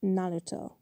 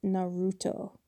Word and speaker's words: Naruto: And they're like, "Because it's pronounced Naruto, not Naruto."